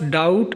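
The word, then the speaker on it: doubt: दूसरा लफज़ है हमारे पास डाउट। यहां बी साइलेंट साइलेंट है।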